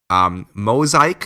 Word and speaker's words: Mozaik: Mosaic, it's spelled MOZAIK KNJIGA.HR.